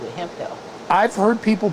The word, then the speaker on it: Hemphill: Hemphills.